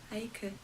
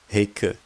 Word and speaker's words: Heike: It's saying the H is silent. What? No, that can't be right. Hold on, let me try it. Heike. Heike. Heike. There we go, I got it.